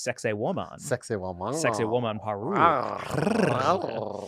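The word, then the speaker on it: Sacsayhuamán: between the stones, and it's pronounced sexy woman.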